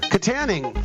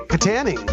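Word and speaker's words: Kittanning: Katanning. I said it right. Katanning. We called the Katanning. pizza shop in Katanning, Pennsylvania, and that's how it's properly pronounced.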